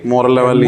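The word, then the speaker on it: Morel-Lavallée: Moral Lavalley lesion. M-O-R-E-L, moral, L-A-V-A-L-L-E, Lavalley lesion.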